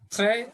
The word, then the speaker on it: très: Très, S silent, très bien.